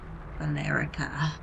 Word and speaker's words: Valerica: Valerica.